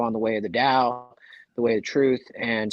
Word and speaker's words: Dao: so it will not change it's Dao it's pronounced the Dao it's the way uh and if you don't